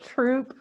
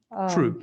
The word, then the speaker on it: Throop: Troop. Okay. Throop. Actually, Yeah. I'm gonna ask for grace. It was spelled differently than that. It's THROOP, Throop. Okay. It is spelled that way. It doesn't sound like troop.